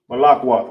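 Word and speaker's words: מלכות: You got ma right here. Boom. You got la, la. Ka, no A right there. So you know this is connected. Lak. Wa, wa. Tha, tha. No A at the end of tha. You know these are connected. Ma, lak, wath. As simple as that.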